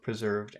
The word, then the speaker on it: preserved: Maybe we could do both preserved and intact. If we did both of those, if we start with preserved, which which syllable should get the accent in preserved? Preserved. The middle one.